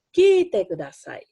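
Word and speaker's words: 聞いてください: Kite kudasai. Ki-nya panjang ya.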